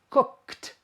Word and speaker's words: cooked: Cook, cook, k, k. So the past is cooked, cooked, kt, kt.